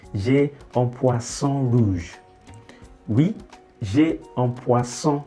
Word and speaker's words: poisson: So make sure you are not saying poison. If you say poison with the single S, you mean poison. So you don't have poison, say poisson. So it's the S sound, not Z.